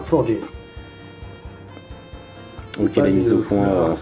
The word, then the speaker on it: Florges: Florges. Je pense que c'est Florges pour le prononcer à la portugaise. Florges.